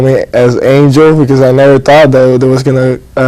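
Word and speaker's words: Ángel: So yeah, so we introduce him as Ruiz Rivera, and also call him Angel as opposed to Angel, which is the correct Spanish pronunciation, right?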